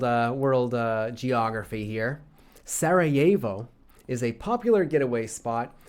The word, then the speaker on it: Sarajevo: take other context clues into consideration it is pronounced Sarajevo uh and spelled thusly like Sarah jevo but